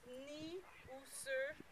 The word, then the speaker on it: Niuserre: So when you pronounce it, you didn't pronounce the N sound. It's Niuserre.